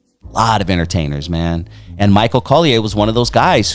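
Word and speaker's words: Michael Colyar: Michael Collier.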